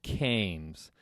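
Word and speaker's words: CAMTS: Pronounced canes. The T is silent.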